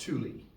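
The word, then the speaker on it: Tule: it's called the the t l e that's pronounced Tuli the Tuli elk okay it's a smaller elk uh and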